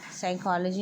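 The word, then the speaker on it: psychology: जैसे कि साइकोलॉजी में पी साइकोलॉजी में पी और डाउट डाउट डाउट में बी साइलेंट है।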